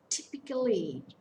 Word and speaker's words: typically: the first syllable topical typically it's a four-syllable word the stress falls on the first syllable so here we can